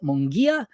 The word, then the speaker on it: Munguia: So with that, let me introduce Brandi Mungia, and welcome to the Nate Tutas Show, Brandi.